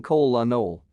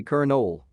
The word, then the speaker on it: colonel: is english no more i've been saying cole la noll but it's actually kernel some other ones that